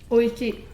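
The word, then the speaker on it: おいしい: Oishi.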